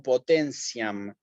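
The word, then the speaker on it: potentiam: palabra la leemos en la tiene eclesiastico como potencian de acabo de venir la palabra potencia en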